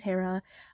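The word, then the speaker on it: Hira: yes my name is h-i-r-a my name is Hera I know it's pronounced differently in some different areas but that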